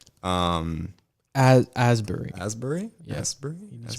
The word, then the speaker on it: Asbury: release date May 3rd 2019 directed by Kelly Astbury um Asbury Asbury yes pronounced that's a little better really dolls I